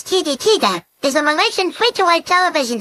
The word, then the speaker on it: TV3: System Television Malaysia Berhad, operating as TV 3, pronounced as TV Tiga, is a Malaysian free-to-air television channel owned by Malaysian media conglomerate Media Prima.